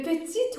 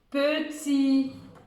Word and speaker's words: petit: Deuxième mot, petit, petit. N'oublie pas de mettre un T muet à la fin. Parce que, pourquoi on met un T à la fin du mot petit?